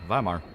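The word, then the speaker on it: Weimar: go bark enough now W is pronounced it as a v yeah viar they want viar cuz the Nazis took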